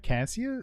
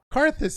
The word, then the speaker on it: Karthus: I'm seeing hovers on Renekton and Vigar, and now Cassius. No, how do you pronounce it? Karthus. Yeah, Karthus, not Cassius.